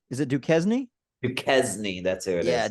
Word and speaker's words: Duquesne: At man, I don't know if I can pronounce this. What is it? Duquesne? What did you say? Is it Duquesne? Duquesne, that's who it is.